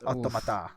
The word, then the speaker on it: Automata: Like it's Automata.